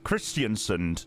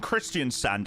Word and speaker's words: Kristiansand: Christianson. No, Christian Sunund and Christian Sand are two separate places. Christian Sunund is in the northwest of Norway and where we're flying to is Christian Sand.